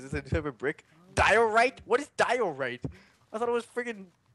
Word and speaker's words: diorite: I'm 100% sure I'm not pronouncing it right, too. Diorite?